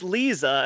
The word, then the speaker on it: Liza: It's Lisa, and it's not that hard.